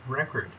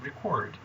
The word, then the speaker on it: record: example the word record when this word is a noun it is pronounced record but when it is a verb it is pronounced record let's look at how we